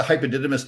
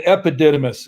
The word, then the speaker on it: epididymis: Now, tell us a little bit what the hypodidymis does. no, it's the epididymis.